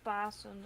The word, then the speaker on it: Pasen: Because it rhymes. Ah. Easter, Oh yeah, it is, rhymes. Easter is Pasen, and then the hare is named Paas Haas.